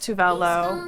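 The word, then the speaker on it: Tove Lo: Pronounce Tovlo correctly. It's pronounced Tuvelo.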